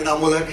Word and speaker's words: इनामुल हक: एंड A little correction, मेरा नाम बड़ा बिगड़ता जा रहा है। मैं शहर में नाम कमाने आया था, कभी स्पेलिंग और कभी प्रोनाउंसिएशन। मेरा नाम इनामुल हक है एंड आई एम नॉट a tourist. My name is इनामुल हक एंड आई एम नॉट a tourist, so please make a correction.